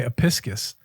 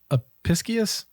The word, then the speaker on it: Apicius: Roman cookery made much use of fennel, which is often mentioned by our boy Apicius. Apicius? I always say his name wrong.